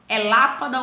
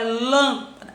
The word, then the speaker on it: lâmpada: É lápada ou é lâmpada? Ah, é lã. Então é um acento circunflexo.